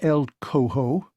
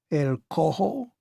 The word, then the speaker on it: El Cojo: just a minute who's el co-ho i pronounced it in the english fashion but bard gave the word its rasping spanish aspirate as he repeated it el cojo he queried that's a